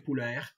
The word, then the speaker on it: Poulaert: Donc Michel Poulaert, ça s'écrit P-O-U-L-A-E-R-T, L-A-E-R-T, Poulaert, Michel Poulaert, Yves Jacob, avec lequel j'ai travaillé en prospection téléphonique, Yves Jacob, Allo Prospection, c'est sa boîte.